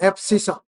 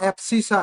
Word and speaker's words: abscissa: देखिए, the distance of a point, the distance point from y-axis is called x coordinate abscissa, ABSCISSA, ध्यान से लिखना, एब्सिसा, बताता हूं इसके बारे में।